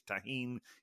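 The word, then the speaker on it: Tajín: with the tahen uh Rim important called it tahen I think if it's spelled with a G it's is pronounced Tajin but if it's with a J it's tahen it's basically the same thing uh please send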